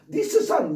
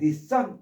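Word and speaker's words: discern: 단어 첫 번째 발음도 S, C를 한꺼번에 발음하셔야 돼요. 쓰라고 이렇게. 니스서 이렇게 두 개 발음하시면 안 돼요. 두 개를 발음해야 꼭 껄쩍지근하지 않고 시원한 발음이 된다라고 해서 니스선 이러면 안 돼요.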